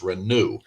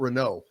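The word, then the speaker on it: Reneau: got to keep his it's renew not Renault yeah and I said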